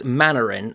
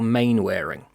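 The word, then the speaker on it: Mainwaring: note of one's called I don't know if it's manarin or main wearing it could be pronounced either way so Captain manarin is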